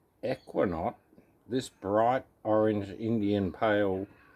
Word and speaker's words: Eukanot: Pronounced Eukanot, this bright orange Indian pale ale showcases our brewer's new favourite hop.